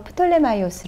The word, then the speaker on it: 톨레미: 털 에이미 인데요 운룡 이 톨레미 는 그리스어 씩 발음으로 프톨레마이오스의 라고도 합니다 4 이에 프톨레마이오스의 요